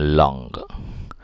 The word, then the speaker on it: langue: Tulisannya begitu, tapi bacanya kalau bahasa Prancis parole, kemudian yang ini bacanya langue.